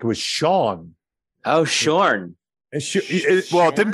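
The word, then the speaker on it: Sjón: a writer Wikipedia has his name as basically Sean like like kind of almost rhyming with John like if you put the H in the front Okay Okay um but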